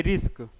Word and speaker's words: RISC: First जो है हमारा, उसको हम लोग बोलते हैं RISC, मतलब कि रिस्क।